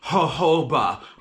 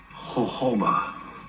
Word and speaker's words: jojoba: made with argan and jojoba. Jojoba. Jojoba. Not JoJo, But it's pronounced jojoba. but ho-ho.